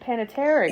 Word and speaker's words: Panettiere: And then did you know that Dot, who was basically the princess's little sister, that was Hayden Panettiere?